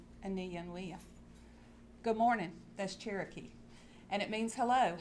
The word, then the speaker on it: Cherokee: Cherokee is actually a mispronounced Creek word, Cherokee, which means people of a different speech.